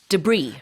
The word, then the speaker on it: debris: The house was struck by this debris. Debris, right. Debris is scattered pieces of waste or remains. 그래요. DEBRIS이지만 불어에서 온 표현이고요. 이거 S 발음하지 않습니다.